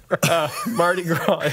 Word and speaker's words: Mardi Gras: Mardi Gras is another. That is the correct pronunciation.